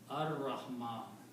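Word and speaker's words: الرحمن: Also, this Ra is a Shamsi letter that if in the Tajweed, Lam comes before Ra, then you do not pronounce Ra, you pronounce, you do not pronounce Lam, you pronounce Ra twice, okay? So this will be written and pronounced as Ar-Rahman.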